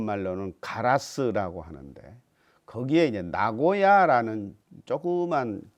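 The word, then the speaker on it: 名護屋: 카라스 라고 하는데 거기에는 나고야 라는 조그만 그 지역이 있어요 나고야 어 저기 일본 중부 에도 나고야 가 있죠 한자는 다르지만 이제 발음은 똑같죠 거기에 나고야 에다가 이제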